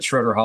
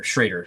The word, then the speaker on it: Schroeder: Uh Vader rhymes with Vader. Shraider.